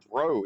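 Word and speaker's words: Breaux: Bridge is correct, but bro is B r e aux. It's cinjun French thing.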